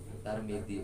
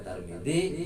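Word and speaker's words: Tirmidhi: itu julukan daripada atarm Tarmidzi boleh dibaca Tarmidzi boleh dibaca tirm boleh dibaca Tur tur bahwa sururah itu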